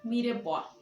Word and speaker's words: mirepoix: bien se le denomina mire por bien mire pues se escribe con x al final entonces éste mire puedo